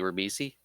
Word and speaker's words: Ribisi: I hold on, let me figure out how to pronounce his last name because it's a little bit. Oh, Giovanni Ribisi.